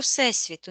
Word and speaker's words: всесвіт: отображение, как маленькая копия всей всего всесвіту, не вселенной, а всесвіту. Нужно правильно говорить.